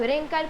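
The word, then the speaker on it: wrinkle: तो मैं आपको बताना चाहती हूँ कि डब्ल्यू साइलेंट रहता है और हम लोग रिंकल पढ़ते हैं।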